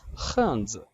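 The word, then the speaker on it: 汉字: The last word is हांज, HAN, क्योंकि एच की pronunciation हमने पढ़ी थी खे से बन रही है तो काइंडली गौर से देखिएगा। खांज, खांज, खांज, दोनों पे 4 टोन है तो काइंडली गौर से इसको अच्छे से प्रोनाउंस कीजिएगा।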